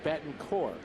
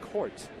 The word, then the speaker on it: Betancourt: Unieski, Betancourt, not Court. You forget about the T. We understand that, and he is from Cuba, but it is very distasteful to his family to pronounce the T.